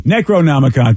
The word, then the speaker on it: Necronomicon: properly oh yeah I know you're not Necronomicon Necronomicon thank you rev no worries that's exactly what